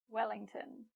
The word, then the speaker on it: Wellington: Wellington. Wellington. Notice how we say tin here. Not ton, but tin.